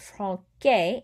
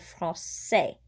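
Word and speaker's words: français: k sound frost say if i did not have that little squiggly thing a little cd under the c i would pronounce that frank gay instead of francais sa has the cedella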